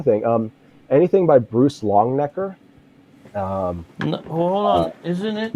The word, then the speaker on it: Longenecker: Um anything by Bruce Longnecker. Um hold on. Isn't it you probably have it. Isn't it Richard Longenecker? Uh, Richard Long Necker, I think, is his dad.